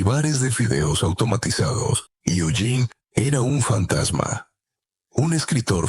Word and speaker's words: Eugene: Eugene, con el acento en la E final, que sabía aspiraciones artísticas no correspondidas.